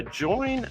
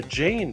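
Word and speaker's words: Jain: came um and became a join monk a Jane monk excuse me j a i n monk later in life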